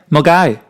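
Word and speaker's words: Milngavie: Yeah, Mulgai has a V in it. So What? Mulgai. Mulgai? It's spelled Milngavi. Oh, so it does have a V.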